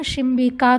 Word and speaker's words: शिम्बिका: Same फली को same शिम्बिका कहते हैं, उच्चारण में ध्यान रखेंगे, सेम में दंत्य सकार हैं और शिम्बिका में तालव्य सकार हैं और ये आकारांत स्त्रीलिंग प्रातिपदिक हैं।